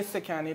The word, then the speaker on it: Sakani: in my account um but i say sakani that's the name i think my mom